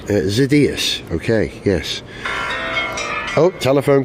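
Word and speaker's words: Xydias: is that how you say his name or zidus zidas okay yes oh telephone call from Miss ETA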